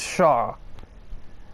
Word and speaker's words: Charles: It clearly says Charles, but it's pronounced Shaw. Like, there's literally like 4 letters that don't exist, and then 2 that are pronounced differently.